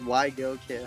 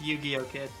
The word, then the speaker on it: YGO Kid: He says he doesn't mind how you pronounce it, but technically it's Yu-Gi-Oh! Kid. Okay, I gotcha. Just because it's YGO literally just stands for Yu-Gi-Oh.